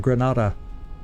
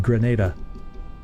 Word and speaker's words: Grenada: the island of Granada I've always pronounced that gran but uh they said Grenada so obviously I'm probably